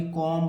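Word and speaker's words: comb: जाएगा इसे क्या पढ़ेंगे कॉम पढ़ेंगे यानी बी नहीं पढ़ेंगे इसका जो उच्चारण होगा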